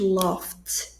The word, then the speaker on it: laughed: Então, aí, ó, novamente, laughed, que é o verbo laugh, rir no passado, aqui pronúncia de T, o ED, no caso.